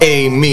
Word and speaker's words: AMI: Ladies and gentlemen, we welcome to The Grind, the one, the only, Amy, it's spelled A-M-I.